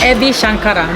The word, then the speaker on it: Ebi Shankara: And I'm here with Ebi Shankara. Did I pronounce that right?